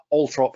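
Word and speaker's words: Althorp: trop house in Northamptonshire yes I know it's a strange way to pronounce a word where the R is over to the oh but for some reason that's just the way they do it and you can see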